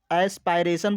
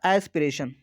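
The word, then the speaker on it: aspiration: देखिए, प्रोनाउंसिएशन पर मत जाइए क्योंकि इसको बहुत लोग एस्पायरेशन बोलते हैं, बहुत लोग एस्पिरेशन बोलते हैं, लेकिन इसका शुद्ध होगा एस्पिरेशन।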